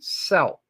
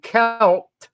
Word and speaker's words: Celt: and Latin PR predecessors early pronunciation of kelt was actually selt in French in Latin the C